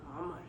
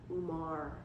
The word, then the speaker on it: Omar: I rather like if he's going to have a name with like the you know like I want them to call him Omar, not Umar, Umar, Umar, Umar.